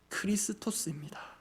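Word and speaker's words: Χριστός: 참고로 우리가 그리스도라고 읽는 그 단어의 헬라어 원어 발음이 크리스토스입니다 쉽고로 번역된 크레스토스와 실제로 원문상 알파벳 하나 차이납니다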